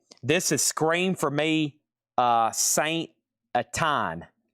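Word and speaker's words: Saint-Étienne: This is Scream for Me, Saint Atine. Saint Atine. And this is unofficial, part 1, $45 start. Live in Paris, 2000. Well, live in Saint, I think that's pronounced Etine.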